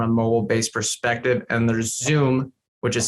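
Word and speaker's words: Xoom: at this from a mobile-based perspective and there's zoom which is spelled x-o-o-m uh that's another big competitor and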